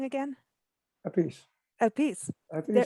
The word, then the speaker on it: Appice: Appice.